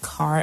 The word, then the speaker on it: CAHR: and human rights awards, CAHR awards, pronounced CAR awards.